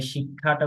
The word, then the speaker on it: শিক্ষা: কিন্তু সংস্কৃতে আসলে এভাবে না। সংস্কৃতে আমরা ক এবং কে উচ্চারণ করতে হয়। তখন আমাদের শিক্ষাটা উচ্চারণ হয়ে যাবে শিক্ষা, অর্থাৎ ক যোগ মূর্ধন্য শিক্ষা।